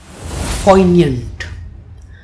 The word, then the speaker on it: poignant: Poignant. Let's begin with the pronunciation of this word. It has 2 syllables, poi and nyant, and the stress falls on the first syllable.